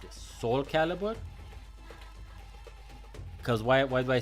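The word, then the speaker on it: Soulcalibur: So I think this is pronounced Soul Calibur.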